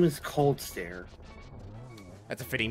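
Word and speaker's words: Kholdstare: His name is Coldstare.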